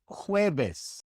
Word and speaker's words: jueves: The J in Spanish is not pronounced J as it is in English. It is pronounced like the H in English, also like the soft G in Spanish. For example, jugo, jugo, ejemplo, ejemplo, jueves, jueves. The J is always pronounced this way in Spanish.